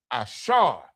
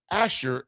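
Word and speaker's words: אשר: Ashar. Asher in the English, Ashar in the Hebrew.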